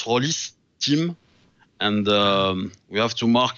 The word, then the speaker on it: Rolisteam: in in the name so he has to be pronounced Horace Tim and we have to